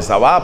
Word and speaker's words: Saba: Entonces el esplendor en la época de Salomón fue magnífico, y fue cuando fue la reina de Saba, o de Sabá, pronuncian otros, la reina de Saba, y quedó admirada de todo lo que había ahí.